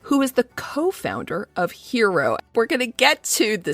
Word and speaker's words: HXRO: the top it's pronounced hero but it's pronounced hero we we've got the x in there instead of the e and the x it